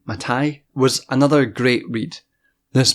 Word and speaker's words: Mattei: the capital order by clada mate I think that's how you pronounce her name matai was another great read